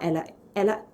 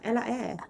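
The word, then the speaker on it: Ella Eyre: had appearances with artists like Dizzy Rascal and Ella Ella however I say her name right. Ella Air Ella Air yeah sorry Ella Ella.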